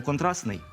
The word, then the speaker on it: контрастний: Так, наприклад, пишемо «контрастний», але вимовляємо «контрастний».